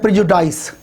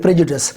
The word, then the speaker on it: prejudice: इसको students pronounce करते हैं प्रेजुडाइस, जिस तरह का जनास्टन का नावल भी है प्राइड एंड प्रेजुडिस। तो ये प्रेजुडिस है ना कि प्रेजुडाइस।